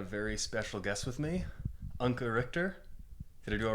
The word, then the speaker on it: Anke Richter: I've got a very special guest with me Uncle Richter did I do all right with that pronunciation it's perfect beautiful and Anka is um